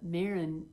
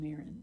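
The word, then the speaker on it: Meadhran: and mirin and uh mirin is spell is uh named after the patron saint of football because their family are football fanatics and his name is spelled m e a d h r a n and he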